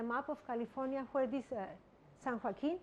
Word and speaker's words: San Joaquin: of California where this San Joaquin well sound rocking it's pronounced in English I guess the precipitation how it